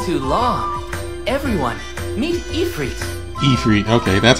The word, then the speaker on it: Ifrit: Ifrit, okay, that's how you pronounce it.